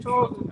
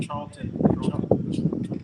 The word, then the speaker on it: Charlton: Charles Heston. Charlton.